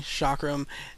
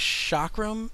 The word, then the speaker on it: chakram: I believe this is chakram as the pronunciation. Some people will say chakram, but I think it's actually chakram.